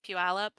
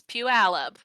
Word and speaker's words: Puyallup: in sign language as puyallup it's like pew like you're holding your nose pu alab oh that's a fun